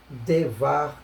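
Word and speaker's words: דבר: Então, e numa divisão de sílaba, o primeiro Shevá, dependendo da situação, que já conhecemos, ele será audível, sonoro. Por isso lemos Devar na abertura da sílaba.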